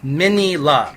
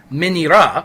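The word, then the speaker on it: Minilla: And secondly, the Japanese pronunciation of his name is Minira. And thirdly, the traditional pronunciation of his name, Manila, is terrible.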